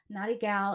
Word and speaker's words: Natty Gyal: little confused naughty girl naughty gal is not pronounced how it's spelled it's spelled n-a-t-t-y-g-y-a-l uh